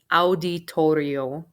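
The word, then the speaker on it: auditorio: let's get started el the letters a u in spanish make the sound of ow like ow i hurt myself so this is what was pronounced again as audi toriel it's a tricky word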